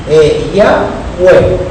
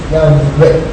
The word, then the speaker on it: Yahweh: Los expertos en gramática hebrea dicen que lo más correcto es Yahweh. No con doble V final, sino con una V suave. Yahweh.